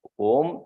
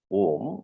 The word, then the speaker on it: om: Because it's pronounced as one single letter, but consists of three sounds.